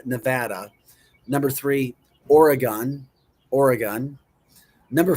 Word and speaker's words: Nevada: It's not Nevada. Nevada.